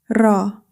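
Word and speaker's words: راء: Our next letter is raa. The articulation of raa is tip of the tongue near the upper gums. Similar to a rolled R. Do not pronounce it like the English R.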